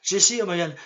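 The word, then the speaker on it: Jessy O'Magahn: Jesse O'Magan.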